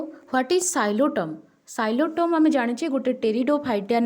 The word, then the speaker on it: Psilotum: Spelling मन रखिब जे PSILOTUM किंतु pronunciation हम साइलोटम अर्थात पीटा साइलेंट रहीकि प्रोनाउंसिएशन हम ओके।